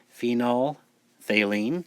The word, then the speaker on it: phenolphthalein: use the one called phenolphthalein and member the pH is silent so pretend it's not there phenol valine which is colorless in